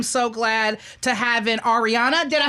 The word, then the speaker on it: Ariana: I am so glad to have in Ariana.